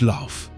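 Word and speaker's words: lough: The Irish word is laugh. Say it like lock.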